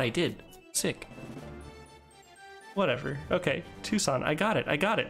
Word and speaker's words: Tucson: I understood the first time you typed it out phonetically. Thank you, I appreciate it. Tucson. Understood. I've heard that. That's just not how I would have thought that was spelled, so I never realized they were the same place.